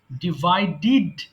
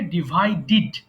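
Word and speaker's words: divided: ডিভাইড ভাগ করা ডিভাইড ডিভাইডেড ডিভাইডেড আমরা যখন শব্দের সাথে ডি ইডি পাই তখন কিন্তু আমাদেরকে ডিড উচ্চারণ করতে হয় সো এটা হবে ডিভাইডেড সো আবার বলি সবাই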